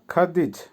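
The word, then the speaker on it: ходить: ইংলিশে ওয়ান্ট চাই চাওয়া বা ওয়ান্ট খাতেজ ভার্ব খাদিজ খাদিজ এর অর্থ হচ্ছে হাঁটা হাঁটাকে বলে খাদিজ রাসায়ন হবে খাদিজ বা ইংলিশে ওয়াক আবারো বলছি হাঁটার রাসায়ন হবে খাদিজ ভি দিদি ভার্ব ভিচ এর বাংলা হচ্ছে দেখা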